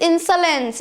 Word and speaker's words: insolence: word as insolence insolence but no the correct pronunciation is insolence it is insulin silence not solance it's salens